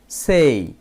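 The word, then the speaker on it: say: সেই মানে বলা বন্ধুরা আমরা কিন্তু বলে থাকি সে হবে না হবে সেই এ এর উচ্চারণ হবে এই তাহলে এস এ ওয়াই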